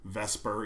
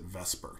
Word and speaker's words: VSEPR: you just pronounce it Vesper even though I know the S comes first before the E typically people pronounce it Vesper okay and Vesper is